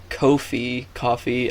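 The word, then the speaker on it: Ko-fi: and so yeah my i think it's supposed to be pronounced coffee because like the tagline the tagline is like buy us a cup of coffee right yeah so have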